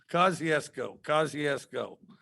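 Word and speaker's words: Kosciusko: Kosciuszko.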